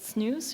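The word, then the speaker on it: SNEWS: We pronounce it snooze, supernova early warning system.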